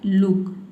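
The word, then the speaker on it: look: अगर double O के बाद के लेटर आ जाता है किसी भी वर्ड में तो वहां पे डबल ओ को हमें क्या पढ़ना है? उ पढ़ना है। छोटी उ की मात्रा में। मतलब कि हमें थोड़ा हल्का प्रोनाउंस करना है। ठीक है? जैसे कि देखिए यहां पे है लुक। लुक में देख सकते हैं डबल ओ के बाद क्या आया है? के लेटर आया है।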